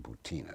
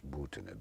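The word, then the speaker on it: Maria Butina: Incidentally, as we talk, this young Russian woman, Marina Butina, sometimes pronounced here Butina, but it's Butina, B-U-T-I-N-A, has been sitting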